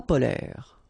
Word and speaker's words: polaires: So same thing here. E and S are not pronounced. Polaire.